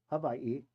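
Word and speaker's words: Hawaiʻi: If I'm going to be speaking the language, I got to learn to say it right. So, it's Olo Havay and it is Maui.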